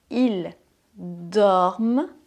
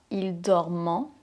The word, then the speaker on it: ils dorment: Attention juste à la prononciation de « ils dorment », pas « ils dormant ». Ici, c'est la 3e personne du pluriel, donc on ne prononce pas le son « en ».